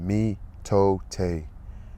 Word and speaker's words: mitote: Let me get my Your whole mind is a fog which the Toltecs called the mitote, pronounced mitote.